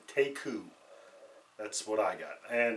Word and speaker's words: Teku: or sorry it's about T EKU and it's pronounced take who that's what I got and basically the name